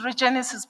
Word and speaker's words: Regenesis: I see this name everywhere all the time, but I can't pronounce it. Is it Regenesis? What's that institution called? It's Regenesis Business School.